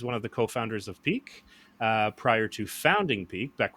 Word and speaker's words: Pique: the market uh with the app peak and that is spelt p-i-q-u-e and so i'm really excited